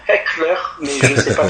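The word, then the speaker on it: Hechler: Et il s'appelle William Henry, alors nous on dit en français Eschler, mais un ami pasteur hollandais m'a dit non, il faut dire Heckler, mais je ne sais pas trop le prononcer.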